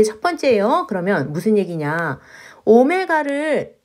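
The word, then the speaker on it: omega: 문제를 풀어보려고 해요 자 선생님 이거 w 라고 아니구요 오메 다라고 읽었어요 알파 베타 처럼 얘는 오메가 라고 읽어요 자 ex 암석 -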